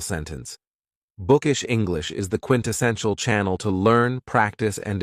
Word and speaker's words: quintessential: Another very cool adjective is quintessential, and this word has 4 syllables, and the stress is on the third syllable, quintessential.